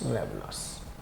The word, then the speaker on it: ravenous: तो जो व्यक्ति लालची होता है उसको हम बोलते हैं रेवनस, RAVENOUS, रेवनस। रवनस होता है, वैसे सही प्रोनाउंस रवनस।